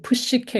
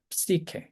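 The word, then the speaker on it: ψυχή: 시케 이렇게 해가지고 이제 발음을 푸시케 이렇게 하는데 저희가 푸시라고 하는 순간 이제 음절 모음이 두 개 들어가 버리죠 그렇게 하시는 것보다는이 앞에는 그냥 이렇게 하면서 발음이 세는 거라서 시케 이렇게 이렇게 하나의 음절로 어 발음하시는게 좋습니다 그다음에 메가 여기 오메가의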